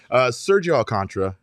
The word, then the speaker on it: Sergio Alcántara: I always want to say it the way it's spelled. Sergio Alcántara.